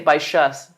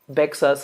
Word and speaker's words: Baixas: But there's some villages in this part of France that you have to pronounce them the Catalan way or else it doesn't work. Like there's a little city, a little village called Baixas, but you say Baixas. You don't say Bexas or something.